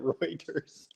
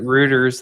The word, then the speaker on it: Reuters: You pronounced it Reuters. I pronounce it Ruters like Rooers.